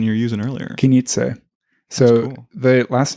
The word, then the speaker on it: Knize: Wait, what was the pronunciation you were using earlier? Knize.